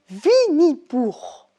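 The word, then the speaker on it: Винни-Пух: Vinipour. C'est assez amusant, surtout quand c'est lui qui le prononce.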